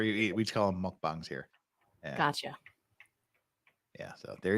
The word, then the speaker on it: mukbang: tube okay now everybody this is not pronounced mooc bang or mukbang it's mukbang and Court shows yeah that's